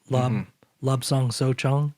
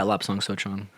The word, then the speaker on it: Lapsang Souchong: So if someone's never had a lapsang or a smoked lapsang souchong, am I saying it right or saying it? Yeah, Lapsang Souchong.